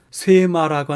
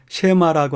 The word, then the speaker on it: 셰마: 대해서 잠시 하도록 하겠습니다 사실은 쇠마라고 하는 발음은 원어상의 발음으로 나타나지 않고요 또한 외국어를 우리나라 말로 옮기는 과정에서도 새마라고 하는 표기법은 잘못된 표기법이라고 합니다 그래서 저는 셰마라고 하는 단어를 쓰는데요이 세마라고 하는 단어는 신명기